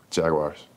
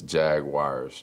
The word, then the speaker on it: Jaguars: UA in it and most of those words pronounce those vowels separately we're actually adding a w in there that doesn't exist because it's Unique people